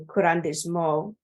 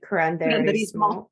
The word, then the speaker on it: Curanderismo: So I find it really empowering to hear that Brujeria and Curandismo, is that right? Curanderismo.